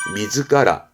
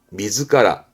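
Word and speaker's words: 自ら: 하겠습니다 뜻으로도 있습니다 혼자 두게 되면 의미는 스스로 발음은 미즈카라 미즈카라 요러면 발음은 오노즈카 오노즈카 아는 뜻은 저절로 뜻이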